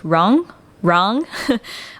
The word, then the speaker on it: Rung: works as a sound junction, and Rung, pronounced Rang, R-A-N-G, allows the outward projection of the link between Sa and Har.